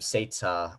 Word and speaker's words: Seita: Their names are the big brother is called, I'm trying to remember how you pronounce their names. Seita. Yeah, that's right. The big brother is named Seita, the boy right here.